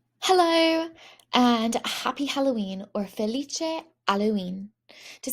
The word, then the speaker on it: Halloween: And Halloween is actually spelled the same way in Italian, but H's are silent. So I ignore the H and I say Halloween.